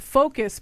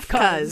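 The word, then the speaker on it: F.CUZ: Uh, there's this group called Focus, but it's not spelled the way that it's supposed to be. It's F period. C U Z. Fuzz.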